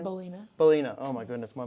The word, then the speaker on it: Ballena: uh how do you say your last name bolina bolina oh my goodness my mind just went